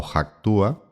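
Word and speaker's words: Hacktúa: Eh, se diría actúa o hactúa, es h a p k t u a, que es la suma de una de unir hack y actuar.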